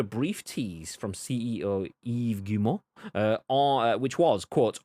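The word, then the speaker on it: Guillemot: vr beyond a brief tease from ceo eve gumo uh or which was quote on splinter cell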